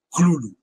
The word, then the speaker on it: Cthulhu: Por lo tanto, no hay una pronunciación real del nombre. Puedes pronunciarlo como quieras, porque lo pronuncies como lo pronuncies, siempre lo harás mal. Eh, mismo propuso una pronunciación y pero es una pronunciación que no que no ha tenido mucho éxito, la que propuso LCASF, que es Clulu.